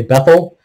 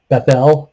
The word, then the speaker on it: Bethel: he called the place bethel we usually say bethel bethel would be a more accurate pronunciation but the name of the city was